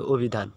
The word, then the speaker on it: অভিধান: হবে কি এই যে দেখো ও এর মত অভিধান তুমি ও দিয়ে উচ্চারণ করবে হ্যাঁ তারপরে দেখো এই যে যে